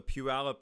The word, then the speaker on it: Puyallup: up it's called the puyallup river now puyallup's an indian word and like difficult doesn't it's not spelled like you would think um but anyway there